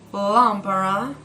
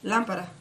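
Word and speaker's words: lámpara: like lambda fast okay so it's not lambora or lago no it's lampara okay well so now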